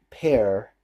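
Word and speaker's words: Paré: alert was played by Michael pair or Pierre pair that's how you pronounce his last name anyway I sent them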